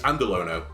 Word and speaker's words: Andalono: How do I pronounce my name? It's Andalono. But if you get it wrong, don't worry about it, I made it up.